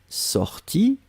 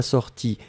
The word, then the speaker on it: sorti: Que je sois sorti, I masculin, que je sois sorti, IE féminin, on prononce de la même façon.